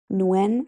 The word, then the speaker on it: Nguyen: know how to pronounce cuz that NG like throws me. Yeah, it's a very common Vietnamese last name. Nuen, I believe. Nuen.